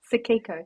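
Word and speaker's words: Tsukiko: How do you pronounce it? Tiko. Tiko. No, hang on. It's at the end. Suko. Suko.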